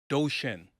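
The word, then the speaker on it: Duchenne: So, there's a term and it's called doshen, right? Doshen lie. So that is that it's spelled d u c h e n e right doshian smile is what it's called.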